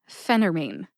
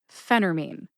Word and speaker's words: phentermine: episode up is that sometimes I personally will eat the tea in Phentermine what does that mean eat the tea it means that I will make the tea silent it sounds like this phenermine Phentermine this information is